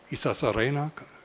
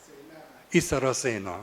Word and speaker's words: Isarasena: printing house by um Santaya Isasarena. Can I say it like this? Isarasena. Isarasena. Okay.